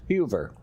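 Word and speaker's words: Heuwer: from uh what was her name heard uh hoover yes tell me how to pronounce that right h-u-e-v-e or w-e-r and the w is pronounced with a b so it's huber so uh when this dish was made it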